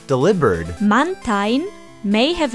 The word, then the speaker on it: Delibird: of delivery and bird because the V sound is typically replaced with a B in Japanese der is spelled the same as deliv in Japanese so that means we all could very well have been saying this Pokémon's name wrong all these years instead of delibird it should have been deliber mantin may have its